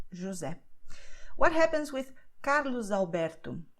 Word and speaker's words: José: That the letter S is between vowels, okay? So it sounds like Z, José.